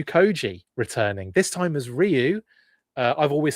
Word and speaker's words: Ryu: Uh, I've always said Rayu. I've always said Rayu my entire life. Um, and then I heard it pronounced correctly. And now I feel like I should probably pronounce it correctly.